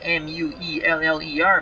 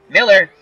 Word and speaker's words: Mueller: His name is spelled M-U-E-L-L-E-R, but it is pronounced Miller. It looks like Mueller, but it's Miller.